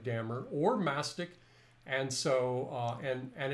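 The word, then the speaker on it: dammar: because Dammer varnish, and I pronounce it Dammer, but a lot of people pronounce it Damar, but Dammer varnishes are still very popular.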